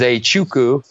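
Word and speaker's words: Nzechukwu: fight it out 47 right so Kennedy is a Chuku looks crazy but that's how you say it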